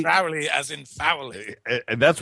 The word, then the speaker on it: Crowley: alist Crowley personally and it's it's crowy as in holy crowy Crowley as in FY and